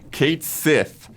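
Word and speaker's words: Cait Sith: Kate Sith, which has a lot of folks up in arms because it disregards the original Gaelic pronunciation of the mythological creature the name's inspired by, Catchy.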